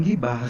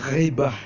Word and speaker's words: ghibah: Sebenarnya bukan gibah, ghibah bacanya.